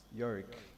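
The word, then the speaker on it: EORIC: Usually when you come around, we pronounce that as YORIC, E-O-R-I-C, which we pronounce as YORIC.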